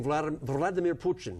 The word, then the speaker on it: Vladimir Putin: We're talking Vladimir Putin, as it's properly pronounced.